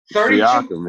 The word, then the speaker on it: Siakam: I'm going to butcher this last name, but how about Pascal Siakam? I think is how you pronounce that? Siakam, yep.